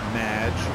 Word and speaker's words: Madge: have mispronounced my name it's madge which rhymes with badge uh as in duh and no as in more than you imagine anyway thank you